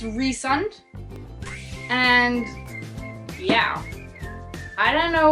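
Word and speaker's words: Rhysand: be up to that another name that I struggled with was rund I was pronouncing ryen that's what I was saying in my hand but it's rund and yeah I don't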